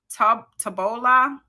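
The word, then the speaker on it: Taobao: in alibaba which operates tub tobola i know that's probably messed up it's spelled t a o b a o live china's largest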